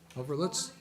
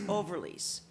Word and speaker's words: Overlease: Overlitz? Okay, come on up and give us your name and address and your issue, please. My first name is, spelled with a C. My last name is Overlease.